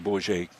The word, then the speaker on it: Bourget: And that's, we want to make sure that we're saying Bourget correctly. I'm using kind of the French pronunciation. And make sure that that's what it is.